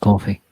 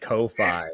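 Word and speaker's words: Ko-fi: whatever you say pretty much coffee it's it's pronounced coffee you keep saying that but I'm going to keep calling it Kofi and you will continue to be wrong it's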